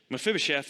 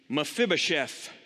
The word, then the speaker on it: Mephibosheth: with me mephibosheth mephibosheth it's not an easy word kind of a little bit of a silent e a little bit of a you know silent oh my fib oh chef but you could say but mephibosheth i think this is